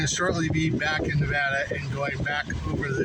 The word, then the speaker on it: Nevada: going from Arizona Nevada that's not Nevada it's not Nevada it's Nevada and the nevadians will kick your butt if you say it wrong and that means you